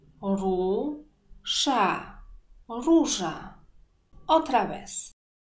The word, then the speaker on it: róża: Hoy vamos a ver los ejemplos con dos vocales con la misma pronunciación.